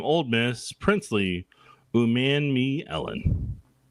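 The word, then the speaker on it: Umanmielen: to be from Old Miss princ Ley um man me Ellen man me Ellen that's what it is pronunciation K uh prin Ley has a size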